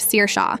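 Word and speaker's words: Saoirse: Sara who becomes source instead of Seir Sha but god forbid you say Mrs.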